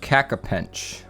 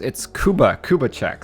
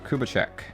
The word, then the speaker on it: Kubachek: It's Kubachek. Sorry, I was thinking of Kak for some reason. There we go, Kubachek.